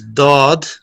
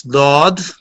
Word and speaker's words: ضاد: is ضاد pronounced as dod. Start using edge of tongue touching gums of upper molars. جی پھر بیان کیجیے. The ضاد pronounced as dod.